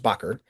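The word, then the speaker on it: Bakker: Um starting with Robert Bcker pronounced Bcker.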